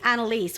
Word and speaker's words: Annelies: and they go well it can't be Annelise which is the way it's actually pronounced because that's usually a